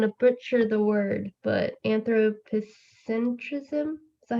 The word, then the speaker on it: anthropocentrism: The first one, I'm going to butcher the word, but anthropocentrism, is that how you say it? Yeah, so this comes from the notion of the Anthropocene, but yes, anthropocentrism.